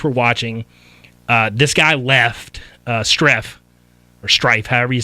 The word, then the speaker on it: Strieff: It's Utah versus Streff, I think you pronounce it, Strieff.